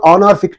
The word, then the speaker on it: honorific: Okay, and in this also H is silent, and we are pronouncing the word from O. O is giving a vowel sound, and therefore we think